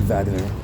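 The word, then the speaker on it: Wagner: That's one of my favorite things about German language is how the W sounds like a V.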